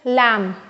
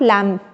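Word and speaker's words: lamb: Alright, ठीक उसी तरह इट्स लैम, नॉट लैम्ब, ठीक है ना।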